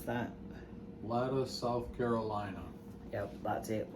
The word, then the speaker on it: Latta: how do you pronounce that? Latta, South Carolina.